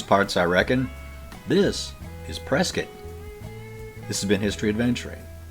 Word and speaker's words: Prescott: My favorite one here in Arizona is pronouncing Muggy-on. Well, howdy, stranger. You're not from these parts, I reckon. This is Prescott.